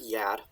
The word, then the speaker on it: ger: these words here um now this word yad i keep pronouncing it yeah because usually it is spelled yeah g-e-a-r um it's spelled g-e-r here it's a dialect thing